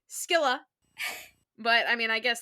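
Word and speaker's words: Scylla: I also mispronounced Sila too. So he's doing better than I am cuz it was fully Skila.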